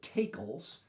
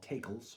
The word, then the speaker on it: tackle: of that word um we tend to say tackle but i had on very good authority it was called takels by sailors and they were used